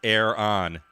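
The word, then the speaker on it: Aaron: It's pronounced air on.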